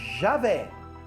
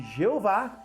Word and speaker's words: Javé: estudiosos Podem trazer para mostrar que Javé é a pronúncia correta de Deus e que Jeová é uma pronúncia equivocada Com certeza do nome